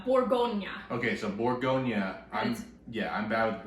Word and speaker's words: Bourgogne: The region, it's Bourgogne. Okay, so Bourgogne. I'm bad with the pronunciation, but I do know about Bourgogne because